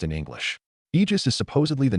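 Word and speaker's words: Aegis: Eegis is supposedly the name of Zeus's shield and the way you say it is. I just with a strong emphasis on the G.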